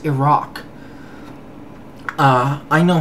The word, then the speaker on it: Iraq: can barely pronounce it no it's not iran it's iran just like it's not iraq it's iraq uh i know how